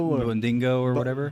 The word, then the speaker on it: Bongino: Bonganilo or Bondingo or whatever. Bongino.